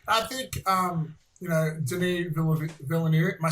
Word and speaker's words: Denis Villeneuve: rare for sci-fi i think um you know denise villanue am i saying it right now yeah uh